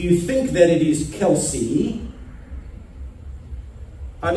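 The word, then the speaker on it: Kelce: I'm speaking, of course, of Travis Kelsey. Rather confusingly, he calls himself Kelsey, while his family uses the pronunciation Kels.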